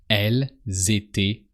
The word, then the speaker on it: elles étaient: Elles étaient là. So same principle. You just have to pronounce the S of L because just after the following word starts with a vowel.